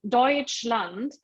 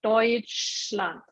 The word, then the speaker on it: Deutschland: Yeah, but you can see in Deutschland, SCH would be like this SH in English, yeah, Deutschland.